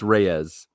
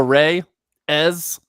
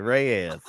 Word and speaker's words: Reyes: It's Reyes. You guys want to go to Ray? Ez? Yeah, exactly. Ray Is. Yes, let's go.